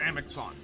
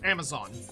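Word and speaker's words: Amaxon: one is the river Amicon um or Amazon depending on how you pronounce it um I like to say Amicon so you know that you're talking about something different but you know that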